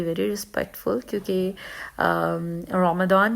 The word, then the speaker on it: Ramadan: करते हैं तो ये the word is rum then not रमदान सो जो लोग रे और